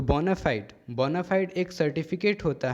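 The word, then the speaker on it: bona fide: Next देखते हैं बोनाफाइड। ये जो वर्ड है FIDE फाइड, इसे फिडे पढ़ते हैं ऐसे, लेकिन ये जब इस स्पेलिंग के साथ जुड़ा हुआ है तो यहाँ पे फाइड पढ़ेंगे, बोनाफाइड।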